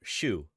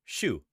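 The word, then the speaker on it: Xu: have been illegally exported it's true for 1999 Zoo noticed that the tale of argue this is again renowned paleontologist from China shushing they keep calling him a zoo in this video but shoo that's how you say it ex-u Shu shushing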